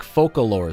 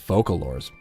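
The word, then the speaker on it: Focalors: to go handson here Japanese dub says it like focalor see that's how I pronounced it uh you know during all the rumors actually I guess the the archon's name wasn't necessarily a leak right like that that had been like in writing in some of the like the backend lore of the game for a while I always pronounce it focal lore I don't even know hey I heard you're a voice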